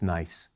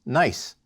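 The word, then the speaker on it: gneiss: we'll look at is nice spelled GN e i SS but pronounced nice setting up all geology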